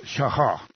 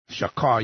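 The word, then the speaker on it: שחה: Strong's word number 7812, shachah, something like that, pronounced shachah. Shachah, you might think, but it's a sound in the middle of the word there, shachah.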